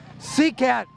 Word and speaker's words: CCAT: oh by the way for ccat that's pronounced sea cat I'm let's